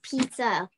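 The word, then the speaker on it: 披萨: Okay, now I know how to say pizza in Chinese. It has the first tone and the last tone.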